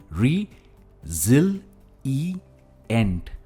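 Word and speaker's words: resilient: यह है रिजिलिएंट। हम जिल इस सिलेबल पर स्ट्रेस देते हैं।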